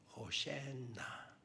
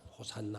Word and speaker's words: 호산나: 호센나 히브리어 발음으로는 호센나. 그 시편 118편 25절에 호센나 호센나. 우리나라 번역하는 우리는 이제 호산나 호산나 이런 식으로 우리가 읽기도 하고 그렇게 읽게 되겠죠.